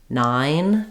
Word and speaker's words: nine: a simple way or you can think about again that I being uh like in night IG G and adding an N instead of it like Knight um again like we said with five if might be helpful to to use that I as an open-ended vow sound so you might try just saying n nine to make sure you're getting this dip thong correct and when I link